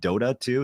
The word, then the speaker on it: Dota 2: League of Legends, or is it Dota 2? Is that the proper way to pronounce it?